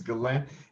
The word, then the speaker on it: Ghislaine: Ghislaine, her name is Ghislaine. It's spelled so weird, but it's Ghislaine Maxwell.